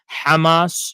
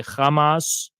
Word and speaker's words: Hamas: indigenous to the region it's called Hamas you don't say Hamas okay that's what that's